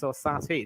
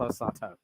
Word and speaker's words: Orsato: I'm pretty certain it's Orsati, not Orsato.